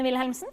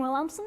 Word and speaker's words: Wilhelmsen: sponsors my name is wilhelmsen or williamson if that's easier to pronounce i'm from norway and